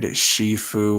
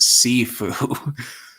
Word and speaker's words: Sifu: Victor annoyed and irked me the way he said Shifu when it is pronounced Sifu.